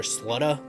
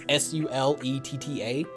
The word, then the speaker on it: Suletta: You have some character development between the main character, whose name is Suletta. I always call her Slutta, because that's about as good as I can pronounce it. It's Suletta.